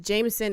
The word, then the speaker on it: JMSN: it's by this guy I'm assuming this pronounced Jameson it's jmsn just capital letters okay oh okay this